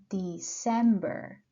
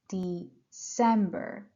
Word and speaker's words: December: one is September September then we have October October you see I push and stress I put the pressure on the second syllable then we have November November and finally December December I can also explain